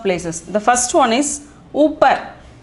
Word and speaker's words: ऊपर: The first one is upar. Upar. The pronunciation is upar.